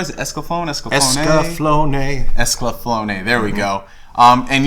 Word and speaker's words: Escaflowne: Is it Escaflowne?